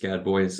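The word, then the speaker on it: Gadbois: public seeing none Seth good boy and I hope I pronounced your name right uh it was probably gadb several Generations ago it's just Gad boys uh but thank you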